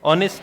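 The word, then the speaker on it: honest: ऑनेस्ट है। इसमें एच क्या है? साइलेंट है।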